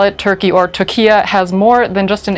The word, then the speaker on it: Türkiye: will be looking at turkey or tokya as the country would apparently like to be known this week ankara asked the united nations to start using the turkish pronunciation in english communications does this country of